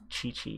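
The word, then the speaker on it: Qiqi: know her i know this girl's name is chi chi and i've been saying kiki i don't know why i've been saying kiki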